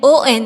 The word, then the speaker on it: ans: S will be silent. We will not pronounce S here.